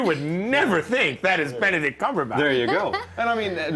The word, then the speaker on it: Benedict: Benedict, like the egg dish.